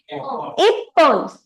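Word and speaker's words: 一本: So how do we read this? Ippon. Ippon. Special pronunciation.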